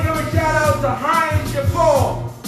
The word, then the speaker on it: Hinds: I want to give a shout out to Heinz Chauffeur. That's HINDS Chauffeur. Or for those who pronounce it, chauffeur.